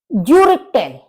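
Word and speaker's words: Gürtel: ज्यूरिटेल, ज्यूरिटेल यानी बेल्ट। अब यू के ऊपर उमलाउट है तो इसका हम प्रोनाउंसिएशन कैसे करेंगे? यू, तो ज्यूरिटेल, ज्यूरिटेल बेल्ट।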